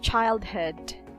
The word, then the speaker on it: childhood: Okay, next is childhood. So in this case, this double O will be pronounced schwa. Will be pronounced as a schwa sound.